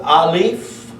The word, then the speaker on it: aleph: The only difference in this word and this word, or, the aleph, which is the number 1, and the ayin both have an A sound.